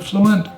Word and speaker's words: fluent: well there's a rule have a listen to this word this word fluent so the word fluent the first syllable ending move the next syllable starts with up goes flu and the second syllable is out together however we don't say flu and we say blue went what is that extra sound I'm adding them I'm adding a W sound a whoop sound so go blue want